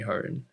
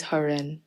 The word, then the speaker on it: Haran: trying to call me heart and it gets me uncomfortable so i don't know what i'm saying so the actual pronunciation is haren yeah it's just like